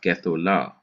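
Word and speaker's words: גדולה: And so you put a simple shua underneath it, which enables you to hurry towards the last syllable so that you can emphasize it. And this is why you have gethola instead of gathol.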